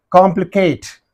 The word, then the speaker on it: complicate: The stress mark is used on the third syllable direct. No problem at all. Here you see, complicate.